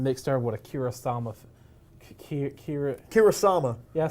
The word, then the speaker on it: Kurosawa: Kurosawa.